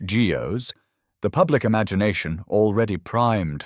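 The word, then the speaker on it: guyots: When early crude sonar systems first detected some of these, especially the ones called guots, pronounced geos, the public imagination, already primed for mystery, went into overdrive.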